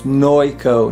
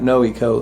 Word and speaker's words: Noico: how to pronounce that it's noico not no eco noico gives you all